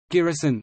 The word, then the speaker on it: Giresun: Giresun, pronounced Iesun, formerly Ceresus, Keresus is the provincial capital